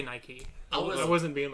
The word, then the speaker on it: Nike: trying to say that it could be pronounced by key I say Nike I wasn't being like